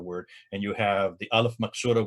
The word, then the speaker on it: alif maksura: And you have the alif maksura, which would be the ah sound, like the S shape at the end of the word.